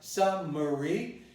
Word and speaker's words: summary: without the vowel, which was initially neutralized, summary. It's going to be eliminated now, and it's going to become summary. Summary. So this is a perfectly good pronunciation of the word summary.